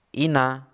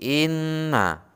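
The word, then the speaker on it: إِنَّ: Nunnya double atau berlipat, bukan ina tetapi inna, dan membacanya itu seperti orang sengau.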